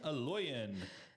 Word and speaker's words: Eloyan: professionals so without further Ado ladies first Helen aloyan than program director of wcdc is that correct